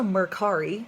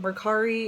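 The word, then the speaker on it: Mercari: hefty fee so maybe not there there's also Merck Hari which a lot of people haven't heard of it Merck re is spelled M er CA RI and they do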